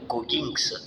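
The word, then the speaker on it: Goggins: Savez-vous euh cette personne qu'on appelle David Gogins ?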